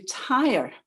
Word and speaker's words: Tyre: So Paul and his companions joined that ship and sailed on to Tyre. It's spelled T-Y-R-E, like car tire, in Syria.